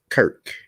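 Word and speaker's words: Circe: However, Cirque was in fact originally a Greek goddess where her name was written as Kirk and pronounced as such, just as in numerous similar cases of words of Greek origin.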